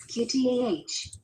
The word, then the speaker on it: Kuita: My name is Kuita, pronounced, QTAH.